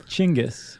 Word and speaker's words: Genghis: Do you pronounce it Dingus or Genghis or Chingus? Are you being serious? I know it's not dingus, but I've also seen it spelled in a way that would suggest it's Genghis, you dingus. You pronounce it Chingus.